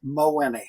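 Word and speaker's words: Mawhinney: in a certain way to you meeting Chuck mowini right and that's how he pronounces his last name or Moni right mohene yes um my Winnie and so I've heard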